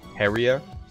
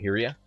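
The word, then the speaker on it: Hyrja: Right, but the way you pronounce that J is almost like a Y.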